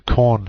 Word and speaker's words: Korn: most popular is uh the corn shell just coincidentally happens to rhyme with born shell but the fellow's name